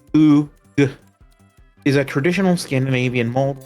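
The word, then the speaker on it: glögg: And it says, "Glug, pronounced glug, is a traditional Scandinavian mold wine often enjoyed drinking the winter holidays.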